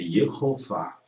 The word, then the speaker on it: Jeová: É Yehová. Yehová. Está aqui, ó, na primeira sílaba.